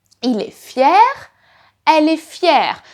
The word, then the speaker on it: fière: Il est fier, elle est fière. Notice the pronunciation is exactly the same, but it is written differently. In the feminine, you add an extra I and there is an accent.